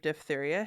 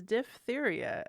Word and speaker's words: diphtheria: That is diphtheria, as we learned, not diphtheria, like most people.